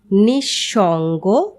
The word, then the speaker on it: নিঃসঙ্গ: তবে পদের মধ্যে যদি বিসর্গ থাকে তাহলে বিসর্গ পরবর্তী ব্যঞ্জন বর্ণটি দ্বিত্ব উচ্চারিত হয়, যেমন নিঃশেষ, নিঃসন্তান, নিঃসম্বল।